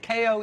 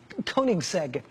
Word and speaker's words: Koenigsegg: Koenigsegg. Koenigsegg.